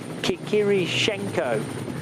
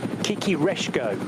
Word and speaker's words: Kikireshko: Oh, and a fourth driver, in fact, Oleksiy Kikirishenko of Ukraine. Kikireshko, in fact, is the correct pronunciation.